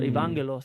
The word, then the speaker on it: Evangelos: So Evangelos, that's how you say it in Greek, and it's like angel, Angelo, and so rock.